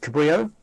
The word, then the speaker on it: Cabrillo: Cabrillo format which is pronounced Cabrillo because it's uh from the Iberian Explorer it looks like this